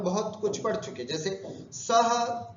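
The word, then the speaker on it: सः: सह उच्चारण करते समय विसर्ग है, सह, तौ, ते, त्वम, ये ध्यान रखना।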